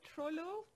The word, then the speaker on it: Troilo: fifth choice um which i well is it pronounced troy troilo um yeah so should we hear it and